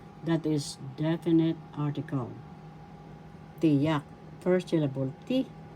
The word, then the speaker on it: tiyak: there are two kinds tiyak that is definite article tiyak firstable te Second syllable yak the second syllable has the accent so you pronounce this tiyak tiyak definite article example